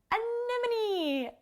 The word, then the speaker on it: anemone: to say anemone anemone it's not obvious based on the spelling of the word and unfortunately english doesn't make use of accent marks the way spanish or other languages do so you just have to hear the word and remember how it sounds but speaking of accent